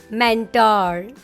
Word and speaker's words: mentor: No, the right way to say this word is mentor. Mentor.